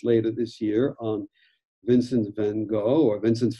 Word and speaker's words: van Gogh: will be released later this year on vincent van gogh or vincent van gaal as he should be pronounced and i was struck by the similarity